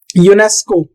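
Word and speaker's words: UNESCO: एओ world health organisation तो इसको letter की तरह नहीं पढ़ते इसको पढ़ते हैं हु यूनेस्को यूनेस्को इसको हम बोलते हैं यूनेस्को ये यूनाइटेड नेशन की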